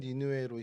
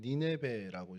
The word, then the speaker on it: 니느웨: 저희 성경에는 니느웨로 히브리어의 그 음원을 그대로 해서 니느웨라고 하는데 카톨릭 성경 같은 경우는 니네베라고 이제 표현을 합니다.